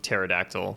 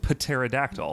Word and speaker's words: pterodactyl: so I will I'll second the pronunciation of pterodactyl which is the beginning of the word though and we don't have ways of saying paterodactyl I think you just